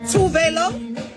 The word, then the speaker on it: Tove Lo: Tove Lo, period. Tove Lo. Now I'm like, it's out there, so let's all do it the Swedish way.